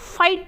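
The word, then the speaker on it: fight: नाइट उसी तरीके से एफ आई जी ह टी फाइट अब फाइट में भी ग बीच में ए रहा है इसलिए यहां पर भी ग क्या है साइलेंट है तो हम क्या बोलते हैं फाइट बोलते हैं अब देख लेते हैं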